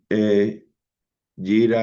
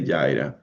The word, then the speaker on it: Jira: Jer so I taking Jira or Jira a lot of people they pronounce that differently but I say Jyra uh you can use uh information from any other source that you have.